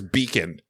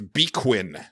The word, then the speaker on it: beacon: that at one point it said the word was beacon. And the pronunciation was bequin. And I'm like, no one would pronounce that word that way unless somehow you accidentally typed a Q in there.